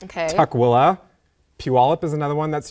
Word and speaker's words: Tukwila: there any others at Tukwila Tukwila or Tukwila I've heard it pronounced so what's the difference oh I see you really put the emphasis on the willing and I used to